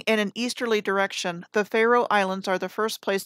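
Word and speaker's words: Faroe: a look at them and pharaoh spelled f-a-e-r-o-e sounds phonetically like the word pharaoh or the title given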